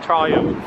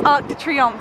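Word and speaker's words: Arc de Triomphe: TR Arc the Triumph stop saying Triumph it's Arc the Triumph when I keep saying it wrong but isn't it lovely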